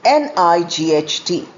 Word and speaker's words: night: The next pair of homophone is KNIGHT and NIGHT, pronounced as night. The first K is not pronounced.